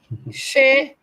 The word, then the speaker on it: Che: How you spell that name? Let me tell you. Shea.